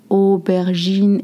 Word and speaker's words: aubergine: You've noticed that the j in aubergine et une courgette mixed de jus sain. The same jus sain that you hear when we say treasure.